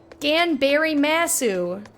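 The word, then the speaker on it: 頑張ります: Ganberry Massu. That's how you pronounce that.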